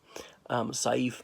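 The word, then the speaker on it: Saif: they wouldn't hello there safe ghazali how's the sword I know what your name means I say not as in safety sigh Eve perhaps I should pronounce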